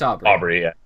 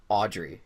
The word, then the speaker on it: Aubrey: It's Aubrey. Aubrey, yeah. Because I feel like I've seen people spell that name before and pronounce it Audrey, and I'm like, what? It's a B.